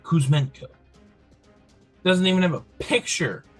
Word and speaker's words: Kuzmenko: I think that's how they pronounce it, how I would have pronounced it. Kuzmenko.